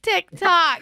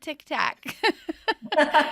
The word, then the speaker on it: TikTok: I said it wrong. TikTok. I always call it Tic-Tac.